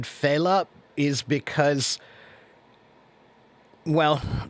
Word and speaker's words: Fela: And I'm pretty sure his name is pronounced Fela. That's how I've always heard it pronounced, unless they're pronouncing it incorrectly too.